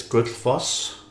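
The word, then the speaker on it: Gullfoss: a Sony camera so um this is goodus that's how you pronounce that in Icelandic cuz that's my birthplace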